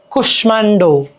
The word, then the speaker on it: কুষ্মাণ্ড: ম ফলাযুক্ত কিছু সংস্কৃত শব্দে ময়ের উচ্চারণ হয়, যেমন স্মিত, স্মিত হাসি, স্মিত, স্মিত, দেখছো স্মিত, স্মিত, কুষ্মাণ্ড, কুষ্মাণ্ড, ঠিক আছে?